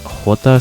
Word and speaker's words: jota: In Spanish, J is pronounced as hota slash jota, and P is pronounced as pay or pee.